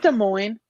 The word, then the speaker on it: Des Moines: buy your timeshares in des moines isn't it des moines des moines yeah this is my bad inspires love to pronounce the s at the end of things yeah they're